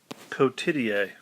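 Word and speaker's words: cotidie: take a look at this pause it and pronounce each word please pause okay repeat after me code tidier cotitier it means daily or every day it's a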